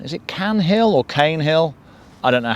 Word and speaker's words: Caen Hill: and she tells me it is pronounced cane hill so we are at